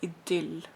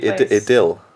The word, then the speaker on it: idyll: In Norwegian, we call it idyll. It's where it's just perfect. Yeah, picture perfect. Did you say idyll?